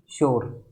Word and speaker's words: sure: तो SURE, इसको हम बोलते हैं श्योर। इसमें स्टार्टिंग साउंड सेफ और सलगम वाला आ रहा है और इसका फोनेटिक ट्रांसक्रिप्शन होता है ये।